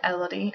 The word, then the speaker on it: Elodie: The French pronunciation is Elodie, which I think is beautiful, but also people pronounce it Elodie. I think either of those are acceptable pronunciations.